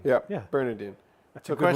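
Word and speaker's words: Burnadine: How do you spell it? B-U-R-N-A-D-I-N. B-U-R-N. A-D-I-N-E. Yeah, Bernardine. Bernardine. Yeah. Yeah. Bernardine.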